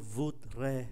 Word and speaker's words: voudrais: Je voudrais. S không phát âm.